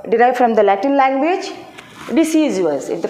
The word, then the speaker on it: deciduous: When we are in the small class, deciduous, we pronounce like a deciduous.